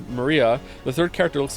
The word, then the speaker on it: Maria: right her name is written of course it's pronounced Maria the third character looks like a cross which